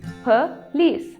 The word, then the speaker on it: police: नो, the pronunciation is police. It's police. The criminal was arrested by police. It's not police. ओ यहां पे नहीं आएगा.